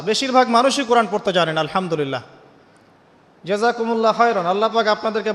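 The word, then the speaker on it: الحمد لله: আলহামদুলিল্লাহি রাব্বিল আলামিন এইতো আপনি পড়ছেন আলহামদুলিল্লাহ শব্দটা কি আলহামদুলিল্লাহ এই হা এর মাখরাজ কোথায় হা এর মাখরাজ কোথায় বলেন একজন কন্ঠনালীর মাঝখান থেকে এখান থেকে আপনি উচ্চারণ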